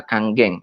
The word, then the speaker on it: Kangen: banyak orang nah tapi ini dibacanya Bukan Kangen seperti itu tapi dibacanya adalah kangjeng ya Karena ini dari bahasa